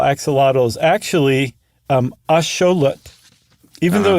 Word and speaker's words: axolotl: axelottal, is actually um asholut, even though it's spelled the exact same way in the nawat language. Um atloned lut and x is very often pronounced show.